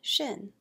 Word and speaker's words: Shin: we refer to as Shin it's pronounced sh as in sheep and it represents a